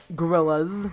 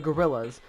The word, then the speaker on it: Gorillaz: the gorillas the gorillas simply refers to a simple mispronunciation of the band's name instead of it being the gorillas with a z sound and no the at the beginning many people refer to them simply as the gorillas with the S sound